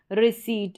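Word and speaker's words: receipt: Same ऐसे ही conceit, फिर ये है रिसीट, इसमें जो है पी साइलेंट रहता है तो इसको रिसीट पढ़ेंगे।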